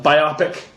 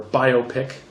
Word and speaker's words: biopic: Join us next time and we'll take a look at the uh biopic or biopic depending on how you say it um of Dane Cook, The Great White Hype.